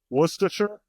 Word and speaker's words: Worcestershire: pronounced Worcestershire.